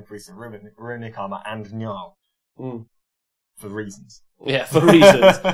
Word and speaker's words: Njal: Njol. Njal. One more time for everyone at home. Njal.